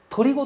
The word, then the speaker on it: 取子: ですが、鳥語と読むんだそうで、小学校